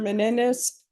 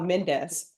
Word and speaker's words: Mendes: the record all right Mr Menendez oh Mendes I'm not don't know why I'm adding extra syllables so Mr Mendes all